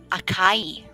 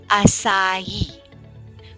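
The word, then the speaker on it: açaí: the first one okay you may be pronouncing it akai right akai but it's actually sounds or pronounces acai with a soft c and a stress on last syllable acai okay it's a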